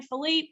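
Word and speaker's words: Phillippe: knew she was with Ryan is it Ryan Philipe is that how you say it yeah yeah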